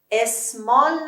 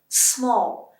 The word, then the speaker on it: small: اینو چجوری میخونید؟ اسمال نخونید. اسمال آقا سر کاره، الان خیلی هم بیزی هست. small.